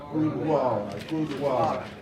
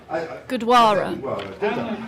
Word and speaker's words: Gurdwara: Gurdwara. I said Gurdwara, but you said it was. Gurdwara. Oh, no, never mind. I said it right.